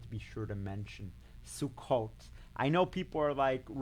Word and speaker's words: Sukkot: And I had the experience of Sukkot. Is that how you pronounce it? Yes. And that's one with, I hate to say it, with the hut built outside. Do I have You that got it right.